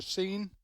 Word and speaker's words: Seine: teams coming down the river, the famous river Seine. Is that the way it's pronounced? Seine River.